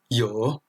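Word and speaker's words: 有: Là, ce caractère se prononce yo, ce qui signifie avoir.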